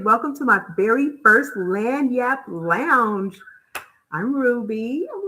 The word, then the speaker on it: Lagniappe: So, it is pronounced Lagniappe Life.